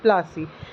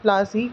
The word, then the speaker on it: Plassey: Which is battle of प्लासी। सो नाउ वी are going to learn प्लासी नाम कहाँ से पड़ा। प्लासी एक एंग्लिकाइज्ड प्रोनाउंसिएशन है प्लाशी की, पलाशी जो वर्ड है, एंड द प्लेस डिराइव्ड